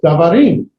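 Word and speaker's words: דברים: Still davarim, but the emphasis is going to be davarim and not davar. It's not davar, it's davarim.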